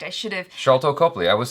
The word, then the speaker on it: Sharlto: I think because in my brain it's like an S name, but when I said it out loud, it sounded like a CH. CH. Yeah, like Charlie Chaplin. But anyway, Sharlto Copley is the actor I'm thinking of.